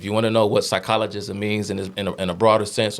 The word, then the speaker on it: psychologism: But the word was psychologism. That's the proper pronunciation of that word.